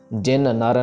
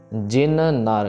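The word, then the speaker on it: ਜਿਨ ਨਰ: दुष्ट दोख ते रहा जिन नर यहां पे काफी जने गलतियां करते हैं जिन नर को दोनों के दोनों नन्नों को जोड़ के जिन्नर कर देते हैं जिन्नर नहीं करना इसको जैसे यहां पे लिखा हुआ है यह गलत है जिन का नन्ना प्रॉपर खत्म होगा फिर नर का नन्ना स्टार्ट होगा तो जिन नर नाम नॉट जिन्नर नाम जिन नर नाम तहारो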